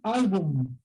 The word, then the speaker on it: álbum: Dicen álbum y lo pronuncian con una N nada más, ¿no? A ver tu álbum con N, pero la palabra es álbum con M.